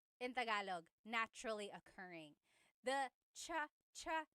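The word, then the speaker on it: tsaa: There's the ts sound and then the double vowel uh pronunciation.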